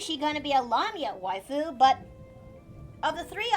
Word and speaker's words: lamia: although if you think about it would um lamear go underneath the classification of the want T brace you did not just say lamia lamia lamia all I'm going to say is